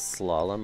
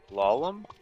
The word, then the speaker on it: slalom: Do you know if the Switch Online has slalom on the NES simulator thing they have? Lalom? Slalom. It's a skiing game. Uh-oh. Can you spell it? S-L-A-L-O-M. Like when you slalom down a ski slope.